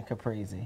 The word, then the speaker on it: caprese: Like we said, if you can't think about caprese, you say it's breezy being caprese.